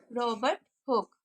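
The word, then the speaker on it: Robert Hooke: जी बिल्कुल, आपने बिल्कुल ठीक प्रोनाउंस किया, रॉबर्ट हुक।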